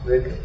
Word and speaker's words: Reka: Reka. Second stress syllable.